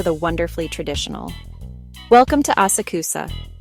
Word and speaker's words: Asakusa: Welcome to Asakusa, pronounced Asaka.